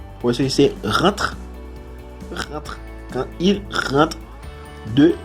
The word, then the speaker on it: rentre: En la primera, la EN se pronuncia como un. Rentre. Porque es rentre y no rentre.